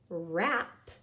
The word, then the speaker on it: wrap: a present all right let's go ahead and code those ghosts digraphs WR and we're gonna cross out the W because all we hear is the our okay on our word